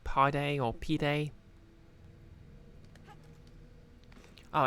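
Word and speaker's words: pide: a turkish flatbread oh nice is it actually pronounced pied or is it like pi day or p day oh it's pronounced p day everyone loves a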